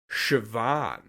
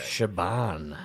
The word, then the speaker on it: Siobhan: got me was uh Shian oh which is an Irish name wow is spelled sioban it's like s i o b a n or something like that Shaban yeah and how did